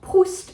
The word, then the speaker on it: Proust: So we talked about Proust and the fact that we're pronouncing the T at the end of that name.